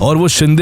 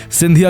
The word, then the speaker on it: Shinde: In those days, Peshwa Bajirao I's The British could not pronounce the words of the Indian language well and they often called Shinde as Scindia. In this way, Ranoji Shinde was also called Ranoji Scindia.